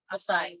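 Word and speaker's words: açaí: a berries I berries how do you say those asai aai berries that's it blackberries blueberries blueberries are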